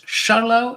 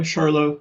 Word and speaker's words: Scharlau: Charlau, is that how I should pronounce the name? That's correct. Yeah, Charlo. Yep.